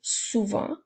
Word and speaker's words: souvent: nous avons le mot souvent ce mot-là aussi à une lettre muette à la fin alors on peut utiliser